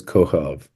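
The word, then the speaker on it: כוכב: And And that line under the B means mhm. it is a B, but because of where it is in the word, you pronounce it like a V. So it's Kohov.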